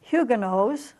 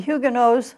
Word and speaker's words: Huguenot: pictures here of the Hyuga knows the Dubois or Dubois which is the French pronunciation simply means of the